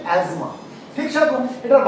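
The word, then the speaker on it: asthma: তাহলে এই জায়গাটা কি ইসমাস, ঠিক যেমন আমরা অনেকে ভুল বলি অ্যাস্থমা বলি, অ্যাকচুয়ালি কিন্তু এটা অ্যাস্থমা না, বানানটা অ্যাস্থমা কিন্তু উচ্চারণটা কি অ্যাজমা, ঠিক সেরকম এটার বানানটা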